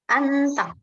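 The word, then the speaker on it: 앉다: Jiyetnya tidak dibaca, langsung anta.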